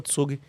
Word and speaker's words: Zug: Por exemplo, tem um cantão na Suíça que se chama Tsugi. Se escreve ZUG.